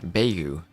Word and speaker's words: Beigu: That's the German speaking part of me wanting to say the I when it's after the e like that. But beu.